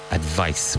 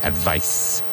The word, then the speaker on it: advice: Advice with a V. Advice.